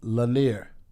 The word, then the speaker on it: Lanier: And they say it's pronounced Lanier.